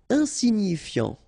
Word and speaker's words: insignifiant: Insignifiant. Okay, final T not pronounced, so you get this I-A-N, yan, so F before, fiant. Insigni, okay, remember, G-N-I, ni, ni, insignifiant. Insignifiant.